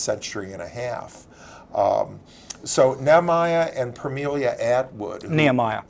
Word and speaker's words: Nehemiah: So Nehemiah and Permelia Atwood. Nehemiah. Nehemiah, thank you. You're welcome. Okay. You got to correct my pronunciation.